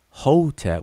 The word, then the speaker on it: hotep: and we pronounce it whole tap with an o and an e in between the consonants but but um conventionally